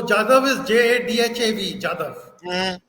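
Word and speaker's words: जाधव: लेकिन यादव को दोनों तरह नहीं प्रोनाउंस किया जाता, यादव भी और जादव भी। No, Jadav is JADHAV, Jadav ji, and Yadav is YADAV, Yadav.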